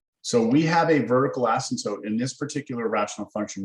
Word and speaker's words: asymptote: This is called a vertical asymptote, A-S-Y-M-P-T-O-T-E. It's a weird word. Asymptote. It's kind of like the P is silent.